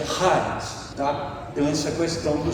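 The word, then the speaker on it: χάρις: Então seria como se você mais ou menos falasse charis, mas seria charis, tá?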